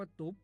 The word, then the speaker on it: ตุบ: ขอ เสนอ คำ ว่า ตุบ ครับ ตุ๊บ เขียน ต่อ เต่า สระ อุ บ่อ ไม่ ๆ รวม กัน แล้ว อ่าน ว่า ตุบ ครับ ตุบ เป็น คำ